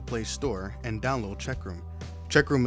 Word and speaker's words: Cheqroom: store and download checkroom checkroom is spelt with a q and not a CK it should look something